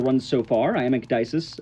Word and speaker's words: Ecdycis: have enjoyed the run so far, I am Ecdycis, Ecdycis. It's hard to pronounce, but that is my name.